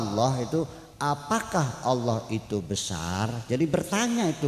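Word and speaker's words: الله: Jadi dibacanya Allah, bukan Allah, bukan Allo, tapi Allah.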